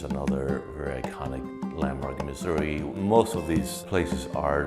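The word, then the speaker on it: Misuri: Louis, Missouri. Right now I'm exposing my body of work titled Missouri. Spelled M-I-S-U-R-I because it's the way I pronounce it as a Spanish speaker.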